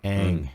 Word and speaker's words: Aang: Is it Ooh, Aang? Is that how you pronounce it? Aang, Aang. Aang.